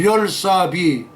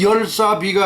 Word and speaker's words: 렬사비: 광주 5.18 인민국 영웅들의 렬사비. 이게 열사비가 아니라 렬사비. 이건 북한식으로 발음하는 거예요.